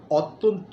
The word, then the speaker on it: অত্যন্ত: শুদ্ধ উচ্চারণটা হবে অত্যন্ত। অত্যন্ত নয়, অ শব্দটি লেখার সময় আমরা লিখব অ, তয় জফালা নয় তয়, মানে অত্যন্ত। লেখার সময় লিখব অত্যন্ত, কিন্তু বলার সময় বলতে হবে অত্যন্ত।